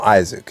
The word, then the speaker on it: Isaac: Well, all right, if he gets past, I'm going to call him Isaac. Yeah, his name is spelled Isaac Cruz. I don't know where this Isak Cruz thing came from, but when it